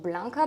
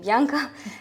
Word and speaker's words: Bianca: I was rarely called Blanca, but I'm then getting back to my name Bianca, and this is the first one.